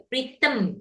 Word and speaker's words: rhythm: Ya, rhythm itu bacanya. Rhythm. E-nya maju ke depan, rhythm.